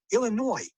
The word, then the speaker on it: Illinois: Yes, my name is Illinois, and I need one airline ticket to, Illinois. Mm-hmm. No, the S is silent.